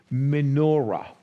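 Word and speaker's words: מנורה: So we put it as M-O, little bullet to separate the syllable, N-O, M-E, sorry, M-E-N-O, and then a little bullet to separate the syllable, and R-A. So everybody can read me-no-ra.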